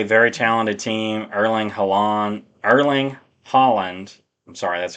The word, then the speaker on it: Erling Haaland: Erling Haaland Erling Haaland, I'm sorry, that's how you pronounce his name.